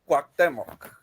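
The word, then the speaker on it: Cuauhtémoc: Yeah, that was Cuauhtemoc. Cuauhtemoc, is that how it's pronounced? Is Cuauhtemoc? Perfect. Cuauhtemoc. Like guac, but quack with a C.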